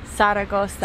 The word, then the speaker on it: Zaragoza: Zaragoza. Or as the locals say, Zaragoza. Zaragoza.